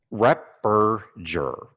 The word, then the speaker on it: Repperger: Repperger. Repperger. Okay. Repperger. Repperger. All right, I got you. Soft G, and the second two E's are pronounced like U's.